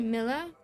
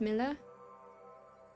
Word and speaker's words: Milla: Is it pronounced Mia or Mila? Well, it's short for Camila, you know? But when I first started here, Sasha mispronounced it and I thought it was so cute. I didn't have the heart to correct him, and now I kind of like it, darling. So it should be Mila?